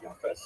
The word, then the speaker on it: Japheth: And I should pronounce that by the way, in the Ashkenazi pronunciation, Japheth.